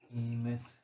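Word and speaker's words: אמת: Emet. Emet, betoningen på sista, om det inte står något annat.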